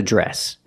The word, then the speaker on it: dress: first this is a dress pronunciation the Dr makes the JJ sound plus the r j dress this is a dress